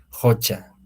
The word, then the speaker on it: hucha: en este caso no aquí la escritura nos dice tal como está es hucha No pero en la pronunciación jocha jocha no con un poquito fuerza no entonces solo es